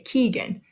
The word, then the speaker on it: Keegan: Keegan Ava Corbin and you'll notice with all of them we say the first syllable just a little bit louder we say Keegan not Keegan Ava Nava